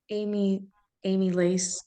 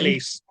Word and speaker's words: amylase: So you said the amylase, I don't know how to say it, I'm sorry. Amylase.